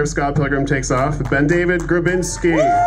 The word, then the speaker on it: BenDavid: It's actually BenDavid, so you're failing so bad. It's BenDavid. BenDavid. It's one word. BenDavid. Stop it. Wrong number of syllables.